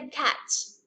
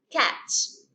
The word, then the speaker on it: catch: Entonces, solamente se pronuncia catch, catch, catch, como si no tuviera la T, pero pues se escribe con eso.